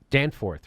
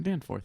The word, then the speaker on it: Danforth: Danforth, right? Danforth, yeah. Danforth, that's how you say it.